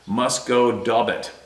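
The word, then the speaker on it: Musquodoboit: I'm a nurse and would travel the number 7 highway towards my workplace in Musquedobois Harbor, Nova Scotia. Pronounced Musquedoboit. Okay, I came kind of close.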